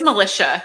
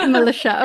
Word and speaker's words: Melisha: Yeah, it's Melisha. It sounds like the army, the volunteer army, the militia. Yeah. Yeah, that's what I always tell people. Yeah, Melisha.